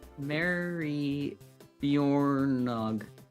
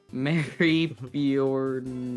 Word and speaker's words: Maribyrnong: Timmons, I don't actually know fully how to actually pronounce that one either. Bjorn. Pardon? Hold on. Mary Bjornog. No, Mary Bjornog. What thing? This is the town name. Mary Bjornog.